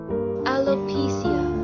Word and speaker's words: alopecia: तो एलोपेशिया को कैसे प्रोनाउंस करेंगे, गौर से सुनिए। Alopecia or alopecia.